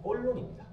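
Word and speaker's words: Cologne: 그 도시를 프랑스 말로 발음하면 꼴론입니다.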